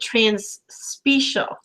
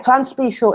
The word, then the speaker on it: Transspecial: And you actually pronounce it transspecial. Yeah, transspecial is the correct pronunciation. Ah, because I thought it was from the word special, but no, it's species across species.